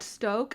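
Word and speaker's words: Stōk: Yeah, I got some of that Stoke. Is that how you pronounce it? Oh yeah, with the long O.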